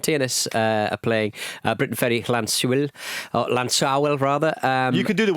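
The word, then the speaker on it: Llansawel: TNS are playing Britain Ferry Lansawel rather. You can do the Welsh because your mother's famously Welsh. Yeah, well, I mean, producer Rory's written it phonetically as Hansawel. It's not a H, is it?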